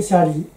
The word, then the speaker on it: 遮裏: ごんべんに神妙に理と書いてシャリと読む、シャリや